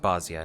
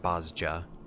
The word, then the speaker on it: Bozja: cuz to unlock Bosia, I'm pretty sure it's pronounced Bosia, not Bosja.